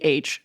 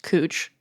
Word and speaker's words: Couch: So there's a street in Northwest Portland spelled Couch Street. And it took me just weeks after moving here to find out it's pronounced Cooch, not couch.